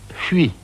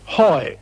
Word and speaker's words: Huy: And then he stuck H-U-Y, and just couldn't pronounce Huy. So after a moment's hesitation, he said triumphantly, Hoy!